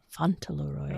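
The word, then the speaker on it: Fauntleroy: it really could yeah Falon Roy right font Roy oh yeah that's how you say it so yeah so it's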